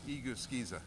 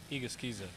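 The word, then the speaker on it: Egusa: rip lip chip okay so the proper pronunciation for the Dustin's name is igusa igusa IG IG can't five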